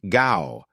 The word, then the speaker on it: Gough: In the 70s, we had a prime minister called Gow, pronounced Gough Whitlam.